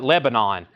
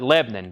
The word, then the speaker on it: Lebanon: I'm in Lebanon Tennessee some people call it Lebanon we call it Lebanon because we're from the south one syllable we're in Lebanon Tennessee